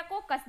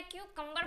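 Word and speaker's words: cucumber: बोलते हैं ना खीरा को कस दो तो इसके लिए आपको कौन से वड इस्तेमाल करना होगा ग्रेट द क्यूकर यहां प कुकं आप आपको नहीं बोलना है क्यू कंबर बोलना है ग्रेट द ककं मतलब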